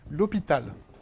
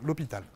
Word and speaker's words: L'Hôpital: Es la regla de L'Hôpital. Fácil para pronunciar, L'Hôpital.